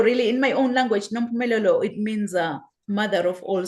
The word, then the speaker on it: Nompumelelo: I know many, when they try to say my name, they always butcher my name, because really, Nompumelelo, really, in my own language, Nompumelelo, it means mother of all success.